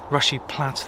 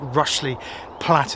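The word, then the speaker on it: Rushy Platt: I think I pronounced it rushly platt as as many of you that live in the area picked up. It is definitely rushy plat even.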